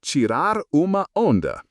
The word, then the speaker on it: tirar uma onda: In Brazil, this is often described as tirar uma onda, pronounced tirar uma onda, literally to take a wave.